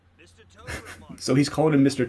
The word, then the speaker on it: Tobromancer: Tobromancer. Mr. Tobromancer.